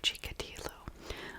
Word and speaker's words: Chikatilo: today's story is about andre chicadillo i looked up the name and i saw several documentaries that pronounced it that way so i'm but i'm